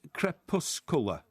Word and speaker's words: crepuscular: spell it like that c-r-e-p-u-s-c-u-l-a-r e-r e-r yeah it's it's crep puss cola crepuscular crepuscular sell it again